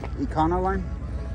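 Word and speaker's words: Econoline: 57 Safari review he's here we got an econol Line Truck how do you say that econol line Econo line yeah yeah these these have become popular huh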